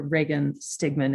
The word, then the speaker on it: Reagan Stigman: and last um yes i am dr reagan stigman is how you pronounce my name and this is um